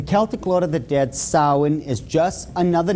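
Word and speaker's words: Samhain: call it sin now when you look at the name it looks as if it's saying Sam hayan or something like that no no no no this is properly pronounced in the ancient GIC as Sin Sin according to Ault tradition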